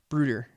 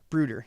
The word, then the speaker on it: Bruder: So you and Bruder is pronounced as a ooh. Bruder. Bruder.